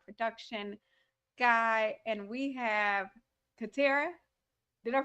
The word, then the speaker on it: Katarra: co-host and our production guy and we have katera did i pronounce it right yep yes our special guest